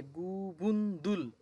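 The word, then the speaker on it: 그분들: এরপর আছে গুবুন দুল, গুবুন সাথে হচ্ছে দুল, দ্বিগুতের দ সাথে হচ্ছে দু, আর নিচে রিউলের ল, গুবুন দুল তারা।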